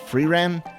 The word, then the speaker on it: Frieren: new reaction series uh I've been told to pronounce this freeram so it might come